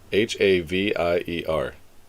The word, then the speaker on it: Javier: See, he even pronounced it for you. Havier.